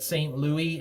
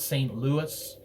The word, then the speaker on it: Saint Louis: louis saskatchewan at least i believe the locals pronounce it saint louis and not saint louis like they do for the more famous one in missouri i'm sure someone will